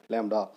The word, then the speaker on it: lambda: So this pronounce as ஏ லேம்டா.